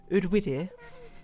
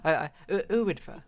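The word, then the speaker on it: Eryri: me and a few friends, we went to, Udwidir, which is that how you pronounce it? Udwidir. That's not even how you spell it. Mountain. No, I spelled it wrong. I swear it's Udwidir. Earwidva. Sorry. Earwidva, right?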